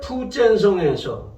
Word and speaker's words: 푸젠성: 중국의 푸젠성에서, 중국의 푸젠성, 우리식 발음으로 복건성이라고 그러죠.